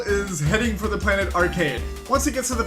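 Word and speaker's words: Archaide: Oh! Holy shit! That's how you say it! Arcade!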